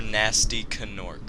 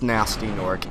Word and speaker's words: Nasty Norc: yeah oh okay wait do you pronounce it nasty norc or nasty canor it's nasty norc it's not gasty gorc that that bugs me